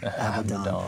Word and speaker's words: Abaddon: How do you go about pronouncing it? Just love it. Abaddon.